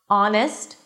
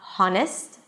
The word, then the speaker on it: honest: There are some words that the H is there in the spelling but is absolutely not pronounced. And here are the words. Our it's not how. And yes, it sounds just like our as in our company. Our honest, not honest. Honor as in your honor.